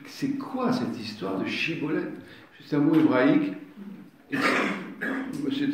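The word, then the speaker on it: Shibboleth: si on peut dire, il faut qu'ils prononcent Chibolette. S'ils ne disent pas Chibolette, Cibolette, vous lui coupez le cou.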